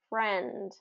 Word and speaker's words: friend: So really listen to friend, friend.